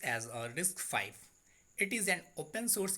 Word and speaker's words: RISC-V: RISC-V is pronounced as a RISC-V.